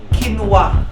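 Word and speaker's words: quinoa: same Okay so ang tamang sagot ay kinwa ang second word natin ay Why ba yan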